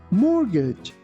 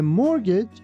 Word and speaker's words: mortgage: Here, be careful that we don't pronounce letter T.